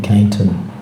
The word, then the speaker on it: Cainton: They decided to name this after the Keynes family, so it became, instead of Keynestown, it became Cainton. So you pronounce it like Cainton.